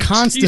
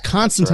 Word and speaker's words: Constantine: And that is how you pronounce the name. He said it right. Constantine. He said it right. Constantine.